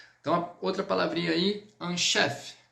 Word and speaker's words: chef: Então, outra palavrinha aí, un chef. chef, igual o nosso chefe, só que no francês nós vamos terminar no F.